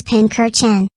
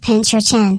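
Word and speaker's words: Pincurchin: First up is Pinker Chen, and before you ask, it isn't pronounced Pincher Chen.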